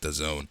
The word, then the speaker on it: DAZN: It's pronounced DAZN.